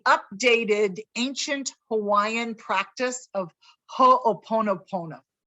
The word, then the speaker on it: ho'oponopono: ancient hawaiian practice of ho'oponopono it took me a while to even pronounce it it's ho oponopono it's a practice of